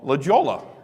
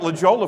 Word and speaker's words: La Jolla: all right and I I was calling it La Jolla for the longest time for somebody said you idiot it's La Jolla Anderson it's not how it's spelled and so I saw